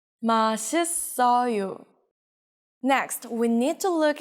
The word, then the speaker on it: 맛있어요: How would you pronounce it? It's not 맛있어요, it's 맛있어요.